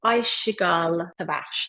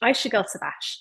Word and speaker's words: Ayşegül Savaş: I need to make sure I pronounce her name right. Ayşegül Savaş. Ayşegül Savaş.